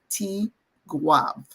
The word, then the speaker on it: Tigouave: But you'll hear most people call it Tigouave, which is how we say it in Creole. So Tigwav, Tigouave. Tigouave. That's it. Oh.